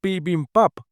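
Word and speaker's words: 비빔밥: el dato de que Bibin Bap en realidad se pronuncia Pin Pap, no sé a qué se refiere. Después le pregunta a Juskom lo pronuncia él. El tipo lo pronuncia como B bimbab a hoy le pide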